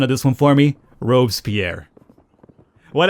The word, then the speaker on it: Robespierre: Robespierre. What? How do you say it? Isn't it Robespierre? Robespierre. Robespierre.